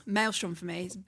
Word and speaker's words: Maelstrom: You know, it took me nearly like 20 years to pronounce that. Ma. Yeah. I kept saying Ma stream. I'd said everything but the actual name for it.